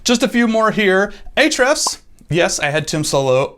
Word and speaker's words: ahrefs: a few more here ahrefs yes i had tim solo on my podcast and he said it's pronounced hrefs but i'm gonna recommend